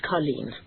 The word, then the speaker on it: Colleen: Her name is Colleen. Sort of rhymes with Kathleen.